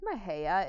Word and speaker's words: Mexia: very small town called, I think Mahia is how you pronounce it. It's spelled Mexia, but I think it's Mahia.